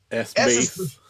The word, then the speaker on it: Space: my solo bass project, which is called Space, as in S-bass.